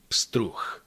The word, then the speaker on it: pstruh: However, again, they are not pronounced pstr. If you go step by step, ps together, ps, ps. Let's add t, pst, pst, pst. Let's add ru, pstru, pstru. And the last sound is actually ch in this case, because